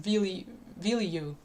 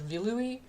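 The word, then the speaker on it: Viluy: I always pronounce their name how it's written in English, which was Vilui. I always thought it was Vilui, but it's actually not pronounced that way.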